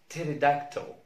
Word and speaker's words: pterodactyl: لما نلاقي تركيبة بي اس او بي تي او بي ان في بداية الكلمة لا ننطق البي. لما نلاقي بي اس بي تي بي ان في بداية الكلمة لا ننطق البي. مثال على البي اس كلمة psychology psychology psychology. البي تي مثل pterodactyl pterodactyl pterodactyl.